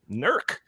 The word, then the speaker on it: NERC: Electric reliability Corporation or nerc is that how you pronounce it Isaac that's correct nerc the assessment forecast that